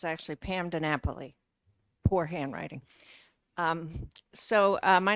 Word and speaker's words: DiNapoli: further questions thank you for your testimony Miss nabel I think I'm pronouncing that properly Pam thank you it's actually Pam DiNapoli poor handwriting um so my name is Pam